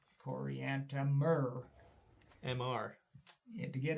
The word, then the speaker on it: Coriantumr: When they came to names, that you couldn't just say Coriantumr. You had to spell it out, because it can't be done by pronunciation. Even the most careful pronunciation will not get that one right. Coriantumr.